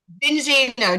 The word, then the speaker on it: Zinzino: learn more about this It's How do you pronounce it? Zinzino. Do you know what it means? It means a little bit of something special in Italian. Oh, Zinzino. Zinzino.